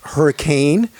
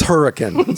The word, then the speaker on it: Hurricane: of you who are not local it's not pronounced hurricane it's her it's hurricane so you gotta say it the right way or you will be promptly corrected by all the local residents so hurricane utah and how big is this place can